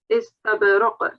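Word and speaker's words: إِسْتَبْرَق: In your previous recitation, when you were stopping, you did pronounce the tanween here as well. Don't do that. If you're stopping, it's just istabraq.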